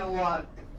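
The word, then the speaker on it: walk: Teacher बोले हैं, हम खाली पढ़ लिए हैं वाक। वाल्क नहीं पढ़ेंगे, लेकिन पूछा जाए कि बेटा वाल्क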